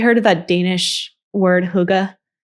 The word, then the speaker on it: hygge: It kind of makes me think of, have you heard of that Danish word hygge? It's spelled Hygge.